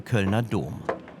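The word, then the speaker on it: Kölner Dom: We're talking about the Cologne Cathedral or as the locals say the Ka Dome.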